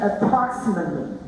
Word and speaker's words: approximately: No, don't say the T. We don't pronounce the T. We say approximately.